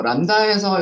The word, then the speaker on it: lambda: 어 람다에서 여기 B가 있죠. B는 발음이 되지 않는 부분이에요. 그래서 그냥 람다 이렇게 얘기를 하고요.